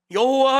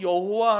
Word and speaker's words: 여호와: 여러분, 여호와 하나님은 그 이름을 발음할 수가 없어요. 원래 우리가 여호와라고 하잖아요. 영문으로 이니셜을 쓰면 YHVH예요. 발음할 수가 없어요. 근데 거기다가 주님이라는 아도나이의 모음을 따서 붙여 여호와라고 부르는 거죠.